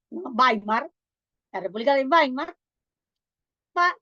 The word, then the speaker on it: Weimar: pero les voy a decir la República de bimar weimar se escribe con w w e i m a r bimar la República de baar